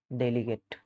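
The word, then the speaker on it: delegate: डेलीगेट। डेलीगेट, डेलीगेट मतलब प्रतिनिधि। डेलीगेट verb भी होता है ना, तो उस सेंस में जब वर्ब रहेगा तो उसका प्रोनाउंसिएशन डेलीगेट नहीं होगा, डेलीगेट होगा।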